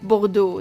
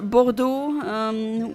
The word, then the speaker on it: Bordeaux: Like, they have so many unnecessary letters in their words that don't get pronounced. Like Bordeaux.